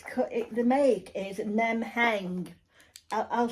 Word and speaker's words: Nemheng: in um it's cut it the make is nem hang I'll spell it for you because it's n e m